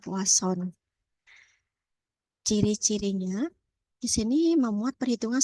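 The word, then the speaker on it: Poisson: ya jadi memang eh tulisannya adalah Poison tapi membacanya yang umum adalah poason ciri-cirinya di sini memuat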